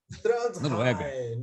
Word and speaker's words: Trondheim: Ele mora em Trondheim, é assim que se pronuncia, né? Como é que repete, César Mackenzie? Fala aí. Trondheim, na Noruega. Puxa no R.